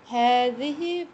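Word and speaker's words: هذه: It is pronounced Hazihi, but the alif is omitted in writing.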